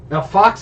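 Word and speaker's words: Auf Achse: u f yeah we've never played Al Fox Al Fox that's how you pronounce it yeah Al Fox I got it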